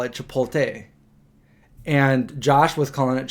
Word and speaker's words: Chipotle: thing a while back I was saying Chipotle wrong and everybody was like you're saying wrong you're saying it wrong so I obviously I looked it up and I'm saying it right Chipotle but a lot of